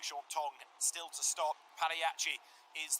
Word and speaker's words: Thong: Don't pronounce the H, do you? Shaun Thong still to stop.